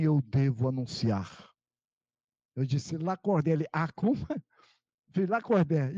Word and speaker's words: Lacordaire: Lacordaire Abraão Fayad, quer dizer, escreve Lacordaire, mas pronuncia Lacordaire, e eu não sabia disso.